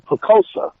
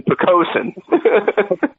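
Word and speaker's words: Poquoson: uh you live in poosa see I pronounced it right this time poosa no you didn't I know P pen there's an n on the end of it man picosen I'm sorry you're from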